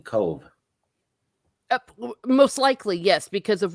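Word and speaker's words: Cobh: Oh, cove.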